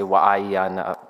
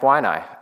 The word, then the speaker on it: Waianae: That's how you pronounce it. I want to say Waianae.